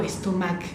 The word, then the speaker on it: estomac: J'ai mal al estómago, como lo ven, no sé si se ve bien, termina con C, pero la C no digo estomac, digo estómago, la C no la pronunciamos.